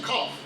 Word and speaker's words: Qaf: And it goes in the back of the throat in its pronunciation, Qaf.